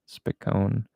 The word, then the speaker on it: Spicone: Accent on the O, like saying O, Spicone. Rhymes with Stallone, like the actor's name. Very cool. Even in Italy, it's pronounced this way.